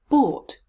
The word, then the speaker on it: bought: have a look at the vowel sound in a bit more detail oh can you see my jaw is open and my lips are rounded or bought now let's